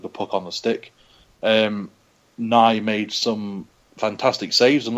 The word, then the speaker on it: Nie: And, Nye, I think it's pronounced Nye.